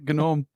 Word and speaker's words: gnome: Gnome. G's are silent in most things when they're in the middle, aren't they?